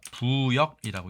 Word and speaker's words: 附逆: 대해서 알아보도록 하겠습니다이 단어 우리가 부역이라고 읽습니다 앞에가 장음이 명사로서 국가에 반역이 되는